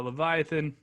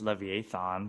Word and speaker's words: Leviathan: I actually have it at number 3 as well, but you guys are saying it wrong. It's Leviathan. So Leviathan.